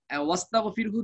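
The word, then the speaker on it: وَاسْتَغْفِرْهُ: এটা যেখানে দরকার হয় ওখানে আনা হয়, দরকার না থাকলে এটা উচ্চারণে আর আসে না, আগের সঙ্গে মিলিয়ে পড়লে এটাকে হামজা ওয়াসলি বলে। তো এখানেও একই রকম, এই ওয়াস্তাগফিরহু যে আলিফ, এটা হামজা ওয়াসলি, আমরা এটা ঠেকার কাজ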